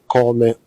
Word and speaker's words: Koome: Eric Koome Morianki.